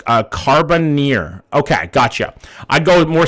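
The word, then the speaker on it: Carbonear: Pronounced Carboneer.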